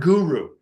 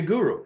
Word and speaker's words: guru: removes ignorance the word guru is a Sanskrit word it is to syllables goo and Ru and those syllables separately